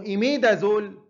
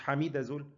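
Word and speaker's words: imidazole: يبقى اللي هو 1-2، يبقى اسمه إيميدازول مش حميدازول، إيميدازول مش حميدة، خلاص.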